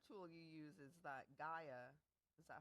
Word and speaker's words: Gaia: Another tool you use is that Gaia.